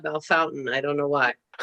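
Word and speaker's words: Bellefontaine: pronounce it that way belle fontaine in ohio is belfonte and they call it belle fountain i don't know why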